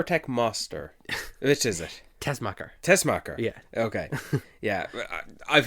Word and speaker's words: Tessmacher: He and Eve Tech Master or Tech Master? Which is it? Tessmacher. Tessmacher. Yeah. Okay. Yeah. I've heard it pronounced one way.